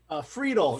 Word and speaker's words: Friedel: How do I say it? Friedel. Kind of sounds like Beetle the way. All right, I did it right. I got it right.